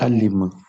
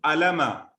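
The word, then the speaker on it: علم: Alima. Alma. Excellent. Somebody said alima. Please No. remember, pronounce it right. It is alima, like samia. It is not alama.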